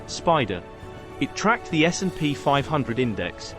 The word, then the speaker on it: SPDR: 1993 and it was called spdr often pronounced as Spider it tracked the snp500